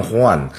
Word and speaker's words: Juan: 唐璜就其实是当 Juan，当然大部分地方翻成胡安啊，其实就是 Juan，就是西班牙这国王